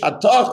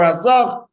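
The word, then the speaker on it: התך: If you read the Megillah, his name is Hatach, Hatach or Hasach, depending on Ashkenazic or Sephardic pronunciation, who we know is Daniel the prophet.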